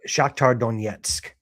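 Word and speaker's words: Shakhtar Donetsk: Uh Thursday against uh Shaktar Donsk Dit. How do you say that? Shaktar Donetsk.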